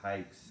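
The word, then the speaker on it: Haix: moon boots where they called the boots hikes you pronounce it hikes I guess not steel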